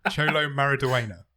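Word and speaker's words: Xolo Maridueña: myself up like this you know it's pronounced cholo cholo marida that's it well done thank you well done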